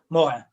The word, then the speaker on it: Morin: How do you spell that? M-O-R-I-N. Morin.